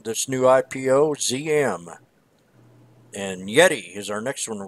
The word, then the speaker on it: Yeti: a quick update on Yeti or maybe you know we're not pronouncing it right Yeti is the way to prime pronounce it yet eat but this company you